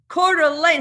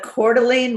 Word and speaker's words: Coeur d'Alene: as the upcoming host of the first annual Quarter Lane how do you say it you say it the Coeur d'Alene real estate investing Summit in beautiful Coeur d'Alene